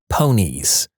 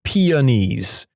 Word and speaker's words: peonies: in a story, and my classmate said, "It's pronounced ponies." I looked doubtful and said, "Really? I'm pretty sure it's just peonies."